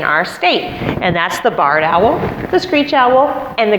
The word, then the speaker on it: barred owl: white owl that is commonly confused and called barn owls but it is pronounced and spelled barred owl b-a-r-r-e-d you can remember this because they have bars on their chest they're year-round residents that